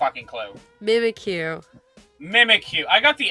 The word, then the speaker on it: Mimikyu: Mimikyu.